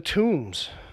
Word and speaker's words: tombs: here the tombs yes that's with a silent be silent ich be well technically you pronounce it but you just don't think you're pronouncing it's one of those right yeah cuz it cuz we changes the M I guess right - exactly you don't do that like lamb oh now you don't